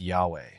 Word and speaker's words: Yahweh: did not include vowels some scholars believe it should be pronounced Yahweh While others think it should be Jehovah this uncertainty has added